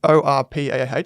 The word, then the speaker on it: Orpah: It's actually Orpah, but the television networks couldn't remember it and they couldn't spell it correctly, so she just changed it to Oprah.